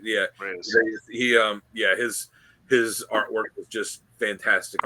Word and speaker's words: Reis: Reyes.